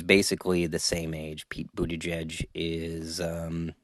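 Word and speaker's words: Buttigieg: the same age Pete Budaj is um it's funny every time I hear his name I think of Donald Trump pronouncing it he's like Buddha judge Buddha judge um and Pete is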